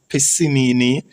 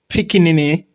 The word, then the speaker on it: Piccinini: Okay, so in 2016, Australian researchers and sculptors Patricia Piscinini, Piscinini, right? Patricia Piscinini, Piscinini, right? Patricia Piccinini, one of them name them.